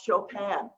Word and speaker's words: Chopin: If it's the piano, I love Chopin, and we spell that C-H-O-P-I-N.